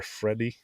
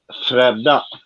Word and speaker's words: Fredda: I remember Freddie. Fredda. Fredda. Yeah, Sorry. Fredda.